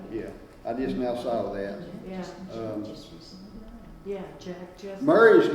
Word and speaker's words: Murray: Murray's name wasn't spelled, I'm not mispronouncing it, it was spelled M-U-R-R-A-Y. Yeah, Yeah. So, but if it was M-A-R-Y, I'd still say Murray, because that's the way we grew up here in Yeah, Brasstown. My Murray. sister's name's Murray, but it's spelled with an A. M-A-R-Y.